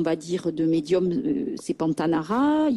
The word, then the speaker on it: Pantanara: ce nom voilà donc pantanara c'est s'écrit P a n t a n a R a ben tout simplement en fait voilà tout simplement comme ça se prononce donc j'ai un site